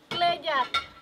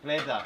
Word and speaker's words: Klejat: We call Klejat. Klejat.